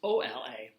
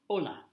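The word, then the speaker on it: Olá: H Ola and HSN right here it's just Ola Ola people who speak Portuguese are either from Portugal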